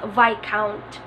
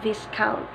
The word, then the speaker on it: viscount: countries parsimony oil families this one is read by count by count and not viscount by count if you know Monica De La